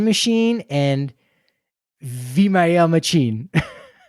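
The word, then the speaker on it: Machín: Uh, is pronounced Machine, which is so apparently I I know a guy who lives out in the the Norfolk area.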